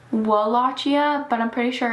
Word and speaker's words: Wallachia: It's spelled Wallachia, but I'm pretty sure it's pronounced Wallachia.